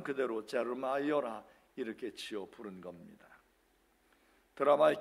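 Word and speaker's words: Jeremiah: 그래서 제 아들이 하고 있는 아주 코딱지만한 카페 이름도 그 예레미야 영어식 발음 그대로 제르마이어라 이렇게 지어 부른 겁니다.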